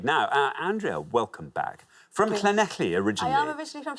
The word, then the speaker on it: Llanelli: Llanelli, hello. I mean, we've got Llanelli in a few times Well now.